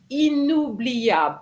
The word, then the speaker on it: inoubliable: Now, the inoubliable, unforgettable, inoubliable, you cannot say un. Okay, here is going to be in because you have a vowel after the N.